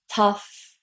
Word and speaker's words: tough: Then the last sound is very simple. It's just a f, normal f, nothing special here. So all together we have tough, tough. Careful that you don't pronounce any vowel sounds at the end. I hear a lot of my Italian students saying things like tough, okay? Be very careful with that.